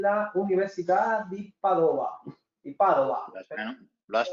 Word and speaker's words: Padova: Di Padova. Lo has Entonces, pronunciado perfecto.